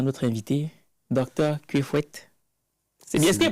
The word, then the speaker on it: Kuefouet: Maintenant que tout ceci est dit, on peut souhaiter la bienvenue à notre invité, Dr Kwefouet. C'est bien, est-ce qu'il prononce bien?